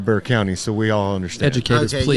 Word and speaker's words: Bexar County: Bexar County I'm like I know it's Bear County which is b x a r yeah I get that